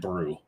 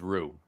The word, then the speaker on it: Rue: I love the fact that he called it the brewery, named after himself because his last name is Brew. No, Rue. His last name's Rue. Family Rue. R-U-E. R-U-E, yes.